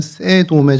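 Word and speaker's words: סדום: 그래서 이 소돔이 원래 발음을 히브리 말로 그대로 읽으면 세돔에 좀 가깝습니다.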